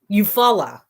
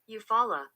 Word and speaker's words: Eufaula: Eufaula. There, see, I still wasn't saying it right. Eufaula. There we go.